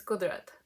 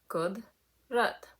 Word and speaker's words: Kudrat: It's easier if you split it into 2. Kudrat.